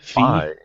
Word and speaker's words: Fi: Phi. I think it's Phi because it's like the second half of Wi-Fi, right?